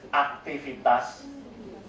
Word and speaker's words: aktivitas: And then activity will be pronounced as aktivitas.